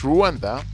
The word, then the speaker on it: Rwanda: Rwanda, if for those of you who don't know Rwanda, Rwanda formally pronounced as Rwanda, officially the Republic of